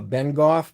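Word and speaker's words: Bengough: uh yeah it's called uh Ben Goff but the town has been golf but it's it's south of the town I I've driven through there a few times uh don't ask me how to spell it but I think it's b-e-n-g you know h-o-u-g-h or something like that give or take you can look up that on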